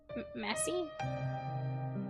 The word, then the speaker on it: Massie: I pronounce that right Massie it's like Missy but with an a messy Michael waited for to